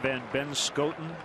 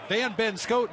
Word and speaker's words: Van Benschoten: Van Benschoten is his last name, but if you don't pronounce it the way it's supposed to be pronounced, it sounds like he has 3 first names and his last name is Schoten.